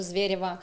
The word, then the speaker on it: Zvereva: But for public, I'm Zvereva, like with Russian accent. Zvereva, specifically Zvereva. Because Americans say Zvereva for some reason.